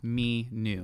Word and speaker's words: Aminu: And I think the partnership between Ominu we are trying to get their pronunciation right. Aminu.